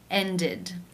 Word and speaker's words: ended: In the infinitive, the final sound is the d sound. Therefore, it is case 3, ended, where the ed is pronounced with the I as in sit and the d sound.